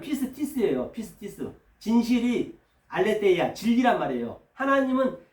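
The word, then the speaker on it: πίστις: 그 이름은 충신이 발음하면 피스티스예요. 피스티스.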